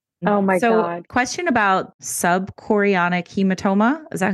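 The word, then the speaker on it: subchorionic: mom oh yeah oh my God question about sub chorionic hematoma is that how you say it yes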